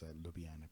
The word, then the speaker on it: Ljubljana: Yeah, so that's the river that runs through Ljubljana. Interesting fact with the J's in a lot of the former Yugoslav countries, they are pronounced as an I. So this is written as Ljubljana, but actually it's Ljubljana because it's pronounced as an A.